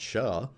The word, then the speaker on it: SHA: we're going to use something called sha which i like to pronounce sha lifetime 24 hours that's the config we're going to put on router 1.